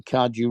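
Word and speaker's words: Cardew: you spell that Ethel e t h e l c a r d e w as in cardu Robinson you oh yeah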